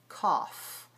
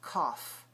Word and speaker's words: cough: so many different pronunciations but for the word cough we we pronounce it c three sounds with those five letters cough and if you're feeding